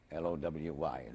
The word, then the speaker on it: Lowy: please tell me your name and could you spell it for me l-o-w-y lowy was that your name at birth that